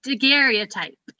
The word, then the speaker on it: daguerreotype: Is it daguerreotype, Elizabeth? You're gonna You make me know- not be able to see it. A daguerreotype.